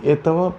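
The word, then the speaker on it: этого: We stretili etava chilaveka.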